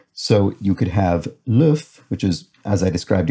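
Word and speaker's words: l'œuf: if situation in french the f is only pronounced when the word is in its singular form as a plural the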